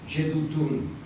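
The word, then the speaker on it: Jeduthun: Lo describo J-E-D-U-J-E-D-U-T-H-U-N. Acento en la U. Yedutun.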